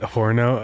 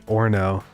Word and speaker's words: horno: my head yeah that horno oh yeah cuz it's really Orno you don't pronounce the h right one day yeah there's no h sound it's just or no yeah I know there's